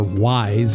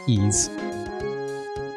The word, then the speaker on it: Ys: Okay, American Sammy also did Ys 3, Wanderers from Ys, or Wise, or however you want to pronounce that. Pretty sure it's Ys.